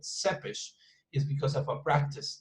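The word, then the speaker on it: Țepeș: name not vlad tepes some people say vlad tempest but no it's that seppish which is which is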